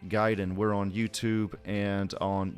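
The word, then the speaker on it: Gaiden: about video games uh giden is spelled g a Deen gaming Guiden we're on YouTube and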